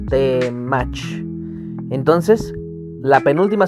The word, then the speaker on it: temach: Así que la palabra temach tiene 2 sílabas, temach.